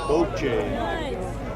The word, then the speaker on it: bocce: The pronunciation of the game is boche.